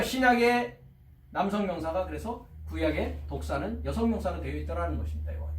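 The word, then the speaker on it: δόξα: 이사야서 11장 10절을 보니까 헬라어로서는 1391번 독사라고 합니다. 독사. 발음을 독사라고 읽습니다.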